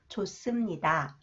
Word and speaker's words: 좋습니다: like the aspirated sound When The final consonant He is followed by shod is pronounced 쌍시 sound sound 좋습니다 좋습니다 경치가 아주 좋습니다